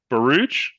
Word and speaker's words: Baruch: I'm going to pronounce this incorrectly. Is it Baruch? That's correct. That's fine. Okay, okay. Baruch Schwartz.